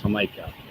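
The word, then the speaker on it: jamaica: Uh ham is um What is hamaha? Uh starts with a J too because they pronounce that with an H. Hikah is hibiscus.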